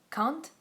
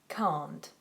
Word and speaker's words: can't: the sound because again the difference is can't can't can't no I can't you won't always pronounce the T but um in general